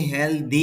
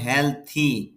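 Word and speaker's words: healthy: জন্য প্রতিদিন ব্যায়াম করে অনেকে হেলদি বলেন আসলে হেলদি না উচ্চারণটা হবে হেলথি হ সাউন্ড সাউন্ড হ তারপরে ল সাউন্ড হেল আর এটা ডিমের মধ্যে যেটা দেখতে পারছেন টিটা সিম্পল আসলে এই সাউন্ডটার নাম হল থ সাউন্ড থ এরপরে ইথ মিলে থি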